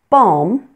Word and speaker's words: balm: Then there are some words in English that may have a silent L, but that you may also pronounce that L. There are two acceptable pronunciations for these words. And here they are. Calm, palm, balm, and almond. Many people do not pronounce the L in these words, but you'll notice that I do. Both ways are perfectly acceptable.